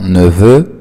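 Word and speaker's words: nouveau: فبننطق نوفو نوفيل نوفيل.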